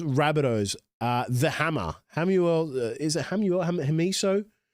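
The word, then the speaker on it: Hamiso Tabuai-Fidow: Is it Hamuel? Hamiso Tabuai Fido.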